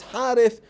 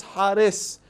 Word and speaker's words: Harith: So instead of Tha, they say Sin. So for example, when they read to the people, the name of Shaitan is Harith, they pronounce it as Haris.